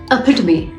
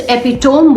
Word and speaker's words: epitome: And then she mispronounced the word epitome. It's epitome, okay? हाँ, लेकिन उसने उसे एपिटोम बोला. क्यों? क्योंकि वो होम, HOME होम के साथ राइमिंग लग रहा है.